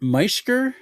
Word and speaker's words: Meischker: your last name, is it Mishker? That's right. Meer. Okay. I I got to It's spelled.